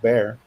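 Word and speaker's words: Bexar: My uh the county I live in is spelled B E X A R and it's pronounced Bear.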